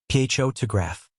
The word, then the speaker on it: photograph: For example, the word photograph is stressed on the first syllable, photraph, but photographer is stressed on the second syllable, photographer.